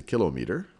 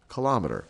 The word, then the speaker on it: kilometer: So the kilometer, I've heard a few people say kilometer, but kilometer, I'll pronounce it kilometer, which is equivalent to 1,000 meters.